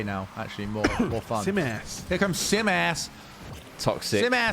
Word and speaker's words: Simas: Simas. It's not spelled that We've way. been Not saying it all Simus wrong. or Simas. Simas. Nice. That's a fun one to say now. Actually, more fun. Simas.